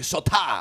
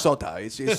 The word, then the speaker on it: Sotah: They say, "Sot." And I say, "No, it's just soda."